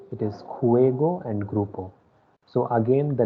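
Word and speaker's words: juego: then next one ending with o it is khuego and groupo so again the letter j is pronounced as cur so that is why it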